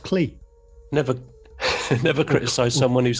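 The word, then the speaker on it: Klee: no man named clay paul paul clay k l e accent e oh sorry i pronounced it yeah so did i until i heard people who know better say it maybe they're wrong maybe they're wrong yeah yeah who knows ask clee never never criticize someone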